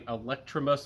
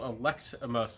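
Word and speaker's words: Electimuss: When I first introduced these fragrances, I was saying Electrimus, like electricity. I was saying it wrong. I noticed that it's spelled Electimus, like you elect somebody, like the mayor.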